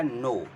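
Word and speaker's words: know: यहां बोला जाता है के एओ डब् नो तो इसमें के साइलेंट होता है तो के यहां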